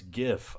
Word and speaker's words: gif: bunch of units Dawkins be careful how you pronounce gif I know it's gif and I'm not going